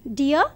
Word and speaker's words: deer: See, let us take a chain: grass, deer and lion. Grass is eaten by the deer. D-E-E-R should be pronounced as deer, okay?